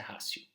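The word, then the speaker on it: ratio: aluna que estudava latim que ela falou que a pronúncia é rácio então tá bom mas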